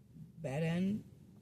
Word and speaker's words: Baden: region with many therapeutic spirits including the farmed Baden. Baden. Is that right? You're pretty close. It's pronounced boden like boden and that's correct.